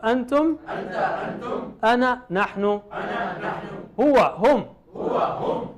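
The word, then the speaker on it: أنا: Ana is written as ana, but you never pronounce that alif. You just say ana, as if there is no alif there.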